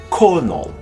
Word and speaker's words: colonel: The most indecent of the silent L words is surely colonel. The word sounds identical to colonel, which is an honorable, respectfully spelled word.